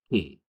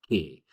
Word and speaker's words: que: The first off is the word over here, QUE, all right? That word is que. It sounds like the letter K in Spanish.